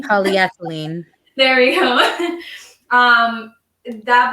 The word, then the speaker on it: polyethylene: that was made with it which i cannot pronounce polythylene polyethylene there we go um that bottle of water